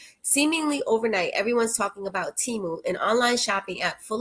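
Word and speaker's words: Temu: Timu, pronounced Timu, is based in Boston, Massachusetts.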